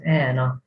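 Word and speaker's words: hena: the first example says anna you pronounce it as if there is no h and which means happiness or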